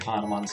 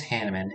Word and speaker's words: Hanneman: It is supposed to be pronounced Hanneman. I don't know, I just see that and I think it's like Hanuman. But I guess if the game pronounces it Hanneman, I'll pronounce it Hanneman.